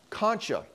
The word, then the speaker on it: concha: And these ridges of tissue are called concha. I actually got on Google for the pronunciation, because I don't think I've ever pronounced these right in my whole career.